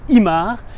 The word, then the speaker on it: Ymart: numéro 30 2 et on l'appelle l'immeuble imart du nom de son premier propriétaire félix immarsat s'écrit y m ar t hum hum regardez